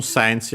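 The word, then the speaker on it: センチ: On its own sensi, accent on the Se.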